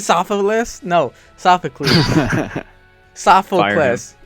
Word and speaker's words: Sophocles: Um, Sophilus. Did I get it right? Sophocles. Sophocles. Damn it. I said Sophus. No. Sophocles.